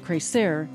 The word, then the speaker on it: CreSer: Our name, pronounced CreSer, is derived from three Spanish verbs: CreSer, to grow; creer, to create; and creer, to believe.